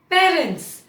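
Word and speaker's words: parents: पेरेंट्स, गलती कहाँ होती है? पेरेंट्स। और एक और गलती क्या होती है, पेरेंट्स, दोनों गलत है। ना ही आप इसको पेरेंट्स बोलेंगे और ना ही आप इसको पेरेंट्स बोलेंगे, इसको आप बोलेंगे पेरेंट्स, पेरेंट्स। इसको मैंने एक बहुत ही क्यूट सा हिंट बनाया आपके लिए। हम अपने माता पिता के पैर छूते हैं, इसीलिए वहीं से आप याद रखिए पैर, पैर, पेरेंट्स।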